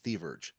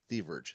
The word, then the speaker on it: Thieverge: Okay, Thieverage, Thieverage, Thieverage.